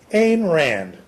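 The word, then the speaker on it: Ayn Rand: I should say h which rhymes with mine after a Finnish woman she know and the Rand came from her Remington Rand typewriter a Rand the writer of we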